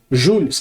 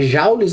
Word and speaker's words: Joule: Porque o sobrenome, né, do James Prescott, apesar dele ser inglês, esse sobrenome dele aqui, vinha do pai dele que era francês. Então isso aqui você lê Jules.